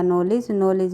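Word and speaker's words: knowledge: फिर आएगा नॉलेज में हमारा KW और D 3 साइलेंट ध्वनियाँ होती है।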